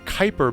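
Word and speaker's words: Kuiper: the average person it's pronounced like more like the Kyper belt wait what was the word KU p r belt oh it is Kyper the quer hey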